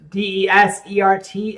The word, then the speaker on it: desert: Pronunciation. Now, here's a tricky one. There's D-E-S-E-R-T and D-E-S-S-E-R-T.